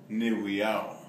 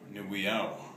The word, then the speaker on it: Owiiyaw: So first of all, Owiiyaw. Owiiyaw.